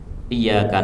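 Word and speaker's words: إِيَّاكَ: Ini bacanya tasdidnya harus ditekan ya. Karena kalau tidak nanti artinya berubah. Kalau iyaka itu artinya sinar matahari.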